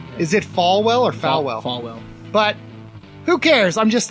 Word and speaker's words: Falwell: Falwell.